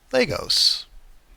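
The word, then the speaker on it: Lagos: This could be logos or le how do you pronounce the capital of Nigeria? Legos. I've been pronouncing it wrong most of my life.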